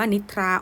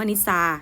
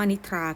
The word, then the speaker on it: นิทรา: คำ นี้ อ่าน ว่า นิทรา ออก เสียง ทร พร้อม กัน มัน จึง เป็น คำ ควบ กล้ำ แท้ นะ คะ เพราะ ว่า เรา ไม่ ได้ ออก เสียง ว่า นิซา นะ คะ เรา ออก